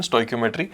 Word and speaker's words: stoichiometry: This is the pronunciation, stoichiometry.